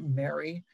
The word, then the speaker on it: MRRRI: The bill would establish an MRRRI, everybody's pronouncing it Mary, program office at US EPA.